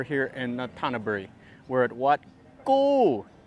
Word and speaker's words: Wat Ku: in tanaburi we're at wat gu which in english it's spelled k-u but it's got like that that g sound anyway we're gonna check